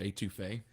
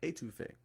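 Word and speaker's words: étouffée: That and etouffee.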